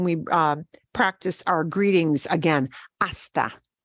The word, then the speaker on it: hasta: practice our greetings again hasta is spelled with an H but we don't pronounce it see you later hasta manana see you tomorrow